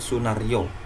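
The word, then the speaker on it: Sunarjo: Hai siapa tadi namanya Sunar Jo atmodipuro atau kita bisa bacanya Sunaryo ini aja ejaan lama ya Sunaryo atmodipuro Hai Kapan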